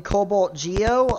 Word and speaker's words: CobaltG0: But listen, the zero is still pronounced as an O. It is. You know that, right? You know, it's not pronounced CobaltG0, it's pronounced CobaltGeo.